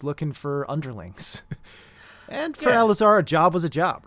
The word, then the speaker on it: Alazar: We're actually going to punch in on you, Alazar. First things first, did I pronounce that correctly?